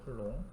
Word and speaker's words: 쿨롱: 곱하기 10의 -19 쿨론 쿨롱이라고 읽어 쿨롱 쿨롬이라고 써 있는데이 읽을 때 큰 롱이라고 하긴 하더라고요 전자가 근데 이게